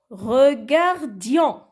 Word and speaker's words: regardions: Nous regardions. Alors, pronom personnel nous, regarde sans ER à la fin. Et j'ai ajouté IONS, le S muet.